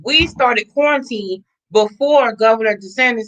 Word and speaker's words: DeSantis: Is DeSantis that how you say his name? did not. Okay, so we're in I thought it Florida. was DeSantos.